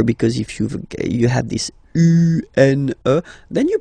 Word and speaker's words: un: So if you listen to me, you don't hear any N, okay? So it's just a combination of the two.